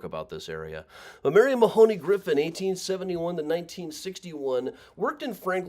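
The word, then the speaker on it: Mahony: the columbarium is Marion Mahoney Griffin and people who are really familiar with the work usually pronounce it Mahoney I always get emails saying it should be Mahoney but then no matter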